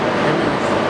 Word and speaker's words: Geminis: How do you pronounce it? Gemini? Geminis? Gemini? Geminis.